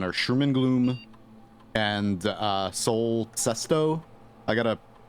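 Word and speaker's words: Sol Cesto: Sherman Gloom and uh Soul Sesto. I got to pronounce it correctly if I'm going to be officially highlighting it. I think it's Sesto. It's S O L for Sun Soul and then Sesto.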